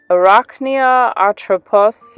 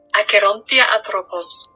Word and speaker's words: Acherontia atropos: The Death's Head hawk moth scientific name is Arachnia atropos, and I'm going to just kind of like put a little clip of the correct pronunciation here because I know I butchered it. Acherontia atropos.